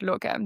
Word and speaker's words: Locvm: Um but we pronounce it locom just so when we say locom it means the platform most likely.